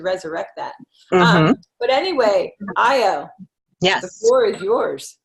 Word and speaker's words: Ayo: Is it Io? That's right. That's Io right. Yeah, Yeah. oh, I just get nervous. I don't want to ever mispronounce someone's name.